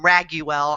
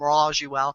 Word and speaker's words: Raguel: call and rajel uh some people call him raguel I call him ruell they're all different ways to say his name but just call